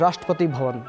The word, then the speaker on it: Rashtrapati Bhavan: Am I am I pronouncing this correct? The presidential office or the the official residence in India. Yes, Rashtrapati Bhavan.